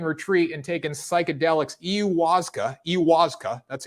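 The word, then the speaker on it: ayahuasca: on a peruvian retreat and taken psychedelics iuwaska iwaska that's how you pronounce it it's defined as a psychoactive beverage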